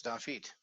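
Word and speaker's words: דוד: This one is stressed because it is at the end of a word. The last syllable in a word is stressed, so we don't have the extra marker.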